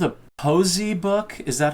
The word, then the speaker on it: poëzie: Is it called a Posey book? Is that how you pronounce it? Well, in Holland we pronounce it poëzie.